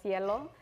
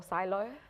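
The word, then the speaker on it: SciELO: discussing, so in Brazil we have cielo or silo, depending on how you pronounce it.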